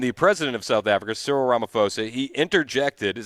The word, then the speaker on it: Cyril Ramaphosa: It says PH. That makes the F sound. So I think it's Cyril Ramaphosa.